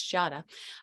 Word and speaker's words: Jadah: As a reminder, our guest's name is Jadah. I and many other people sometimes have mispronounced it, so it's Jadah.